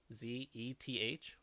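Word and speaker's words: Szeth: e th e th the S is silent is okay I guess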